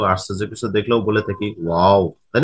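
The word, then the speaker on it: واو: ওয়াও হরফের উচ্চারণটা, উচ্চারণের স্থান হচ্ছে দুই ঠোঁট উচ্চারণের সময় গোল হয়ে যাবে, অর্থাৎ তোমরা নিচে যেহবা দুই ঠোঁটের চিত্র দেখতে পাচ্ছো কিরকম গোলাকৃতি হয়ে গেছে, তাই না?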